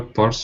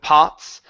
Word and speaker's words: parts: Other parts of Scotland. Now we want to say parts. Instead of pots, parts. Give me an R.